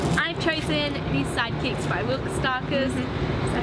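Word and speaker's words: Will Kostakis: My fave book from my which is also, I've chosen The Sidekicks by Wilk Starkers.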